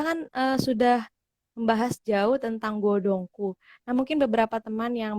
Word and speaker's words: Godhongkoe: Nah, kita kan sudah membahas jauh tentang godongku. Nah, mungkin beberapa teman yang baru join nih belum tahu nih Bu, arti godongku itu apa sih? Kadang aku juga kemarin salah gitu, bacanya malah godongkoe kayak gitu.